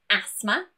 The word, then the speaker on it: asthma: But there are some random words too that also have a silent T. Most commonly, asthma, Christmas, mortgage, and often.